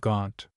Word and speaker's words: Gaunt: history as Jon of Gaunt. This word Gaunt was the nearest approach that the English people could make in those days to the pronunciation of the word Gent, the name of the town where Jon was born.